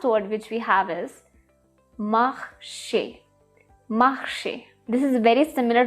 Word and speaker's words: marché: The fourth word, marché, marché, marché. The A sound at the end, marché, which is like walked and also a market, marché.